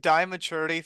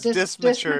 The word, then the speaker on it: dysmaturity: I've been calling it dimaturity for the longest time because I could not pronounce it. So Yeah, it's dismaturity.